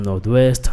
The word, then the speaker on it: Nord-Ouest: super maintenant jerkstone département du nord-est en pile prononcer comme nolwest no gains ville de port-prince mais en plus